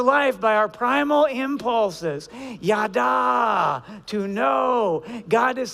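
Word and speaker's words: ידע: It's pronounced yada.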